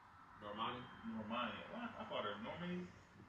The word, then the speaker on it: Normani: Normani.